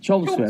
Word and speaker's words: Chelmsford: Chelmsford. That's how you say it. If you're from there, you say Chelmsford.